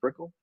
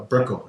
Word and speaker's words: Brickell: Is it Brickell? Uh Brickell.